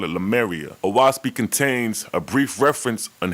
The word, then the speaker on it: Oahspe: The first thing to address is that it's pronounced Oahspe, and the name Oahspe signifies and means sky, earth, and spirit. O equals sky, Ah equal earth, and Spe equals spirit, which stems from the